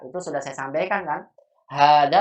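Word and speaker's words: هذا: Hada Iya. walaupun pengucapannya panjang tapi nggak ditulis alif hanya.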